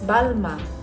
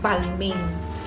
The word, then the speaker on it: Balmain: bagong-bago di ba It's balma that's the correct pronunciation in French Pero kung ayaw niyo ng sobrang arte Pwede din naman balmain whatever ito meron pang